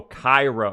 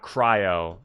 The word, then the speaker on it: chiro: Oh, Cairo. Okay, so it's like... Not cryo. Cairo. So like... The lands of Egypt, almost, and then Practor.